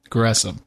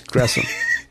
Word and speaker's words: Gresham: And for the record, it is pronounced Gresham. It is Gresham.